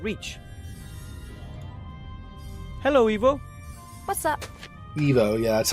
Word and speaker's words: Ivo: Ivo, yeah, that's how you say it.